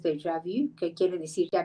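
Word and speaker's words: déjà vu: vuelo o con el de javu que se pronuncia en francés de javi que quiere decir que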